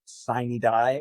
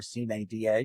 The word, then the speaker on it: sine die: session on June 2nd, sine die, or sine die, depending on how you like to pronounce that.